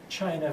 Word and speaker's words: Qin: the others and unifies China for the first time into a very formal Empire that dynasty is called chin and in the pinin system the CH sound is written as a q I'll write the complete